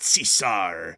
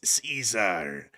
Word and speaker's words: Caesar: He also mispronounced the word Caesar. It's not Cesar. It's Caesar. Really kind of stupid if you ask me.